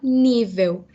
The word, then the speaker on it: nível: gente fala em português o acento vai estar na sílaba de falar nível o nível prático da